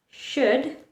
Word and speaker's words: should: Letter L likes to remain silent in words where it is very hard to pronounce the letter. For example, walk, should, talk. Imagine how would you pronounce them if you had to pronounce the letter L? Talk, walk, should. They sound horrible. So, in words where it is very hard to pronounce the letter L, it's wise to keep them silent. Should, the correct pronunciation is should, talk, walk.